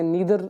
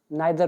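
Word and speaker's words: neither: कई लोग इसे नीदर नर पढ़ते हैं बट I read it एज नाइदर नॉर जो कि सही प्रोनाउंसिएशन भी है।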